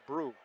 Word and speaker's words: Brew: And he wrote down on his sheet, I think, that his name is pronounced Brew. Brew. Yeah, he did. I've called him Bro for quite a few years. It is Tucker Brew.